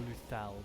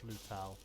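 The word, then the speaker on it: Lhutel: Or Luthel, depending on how you like to pronounce things, but I've heard it mostly pronounced Lutel.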